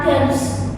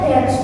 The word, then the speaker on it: dance: Jadi kalau kata kerja, kata apapun sih enggak kata kerja ketika dia akhiran, e, kalau dalam bahasa Inggris itu kayak dia tidak terbaca ya. Misal kayak kata dance, bacanya dance bukan dan gitu kan dance.